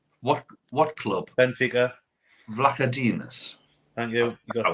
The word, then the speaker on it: Vlachodimos: I can't pronounce his name. What club? Benfica. Vlachodimos.